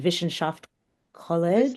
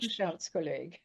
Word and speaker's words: Wissenschaftskolleg: The Wissenschaft College. Wissenschaftskolleg. Thank you.